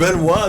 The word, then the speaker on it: Benoit: Is it Ben Blanc? Benois Blanc. There's no W.